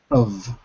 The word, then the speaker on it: of: Of the vowel O becomes The F is always pronounced like a V.